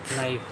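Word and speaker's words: knife: है चाकू चाकू नाइक नाइफ के साइलेंट है के आई आई के एन आई एफ ई हां नाइफ इसमें भी के साइलेंट होता है।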